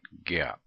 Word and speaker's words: GAAP: with some generally accepted accounting principles pronounce that gap and gap has been